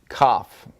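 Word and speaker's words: כף: Kaf, just like what you do when you're sick.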